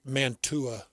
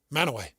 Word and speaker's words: Mantua: Manaway. How do you say it? I think it's Manaway. It is. That's what we said. That's my hometown. Yeah, he's from there. That's how it's said.